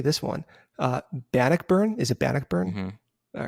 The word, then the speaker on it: Bannockburn: Is it Bannockburn?